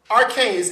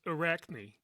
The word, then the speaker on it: Arachne: I know um you talked about um um arcanes. Am I Am I pronouncing right? Arcane. No. So, it's Arachnne.